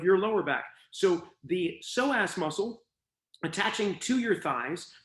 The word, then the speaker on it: psoas: of is called your psoas muscle it's spelled with a p a silent p at the at the beginning of the word p-s-o-a-s the psoas muscle attaches